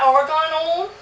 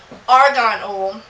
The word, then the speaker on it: argan: we would read about Argan o I hope I'm pronouncing it right a r g n um I I was calling it Afghan oil for a while I don't I'm dyslexic